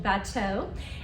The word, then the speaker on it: bateau: Of course, I prefer the French pronunciation bateau.